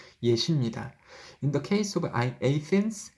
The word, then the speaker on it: Athens: In the case of Athens, Athen이라고 하지만 우리는 아테나라고 읽죠. 영어 발음은 Athen이에요.